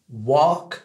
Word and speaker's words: walk: ouais je vais vous apprendre à prononcer le verbe marcher et le verbe parler en anglais et donc ça donne ça work et talk d'accord work marcher talk parler bien